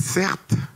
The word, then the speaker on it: Certe: Je m'appelle Certes. Ça s'écrit C-E-R-T-E. Mon prénom, c'est un adverbe, une faute d'orthographe, vous vous rendez pas compte, j'ai l'impression.